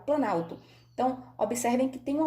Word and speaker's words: planalto: Eu não falo plano alto, eu falo planalto.